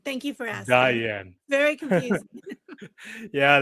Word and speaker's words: Diann: yeah beautiful beautiful so is your name pronounced Diane or Dian Diane thank you for asking Diane very confusing yeah I